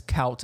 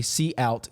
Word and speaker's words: cout: So you don't want to pronounce this cout and you don't want to pronounce this sin. You want to say cout, cin.